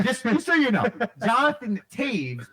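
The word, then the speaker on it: Toews: chase spelled s-h-e-a just so you know jonathan taves spelled t-o-e-w s connor hellebuyck so there you go that is spell that name how'd you feel i actually felt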